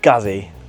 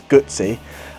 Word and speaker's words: Guzzi: spelled how you pronounce goodsy because people always pronounce g gazzy and it's not it's gsy so it's spelled guu TS I so people